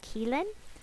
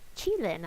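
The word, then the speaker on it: Qilin: uh on the trip keelan it's actually per pronounced chilin i was told so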